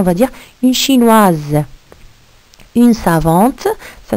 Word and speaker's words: savant: Une savante, ça s'écrit avec un TE. Un savant, alors à la fin, c'est T.